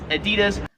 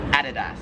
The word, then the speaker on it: Adidas: paper the apparel company in America we would pronounce this as Adidas Adi Adidas Adidas however here in Australia it is Adidas one thing I want